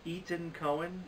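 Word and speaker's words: Etan Cohen: For Worst Director, Ethan Coen, and I say that because it's spelled E-T-A-N, so it's not like I'm saying Ethan Coen, and so this is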